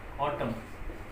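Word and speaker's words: autumn: जैसे एक एग्जांपल हम देखते हैं यहाँ, ऑटम। एम के बाद एन है तो इसमें एन का जो साउंड है वो नहीं आएगा, एम तक ही आएगा।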